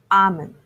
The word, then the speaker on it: almond: The correct pronunciation has L silent. It's almond.